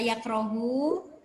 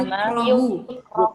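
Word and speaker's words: يُكْرَهُ: Oke, kalau Bapak baca yakrohu, Yakrohu. sekarang dicari failnya mana? Kalau bacanya yakrohu. Failnya tidak kelihatan mustatir ya? Ya, yang pas itu wa innama yukrohu. Yukro'u. Ya, mabninya mabni maf'ul, bukan mabni fa'il.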